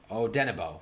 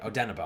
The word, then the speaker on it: Odenigbo: Ifeadi Odenigbo, right? Odenigbo. I think the G is silent.